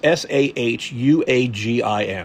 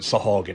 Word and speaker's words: Sahuagin: It's s a hu a g i n. I've always called it sahogan. It might be sahuagin or something, but they